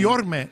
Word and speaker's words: Guillorme: Is it Guillorme? I thought it was Guillorme. I feel like with the Spanish background and everything. Guillorme is how you're supposed to pronounce it.